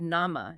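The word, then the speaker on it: نَعْمة: It deliberately uses nama.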